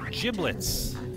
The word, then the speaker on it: giblets: take that one yes I do say giblets with a soft G even though my name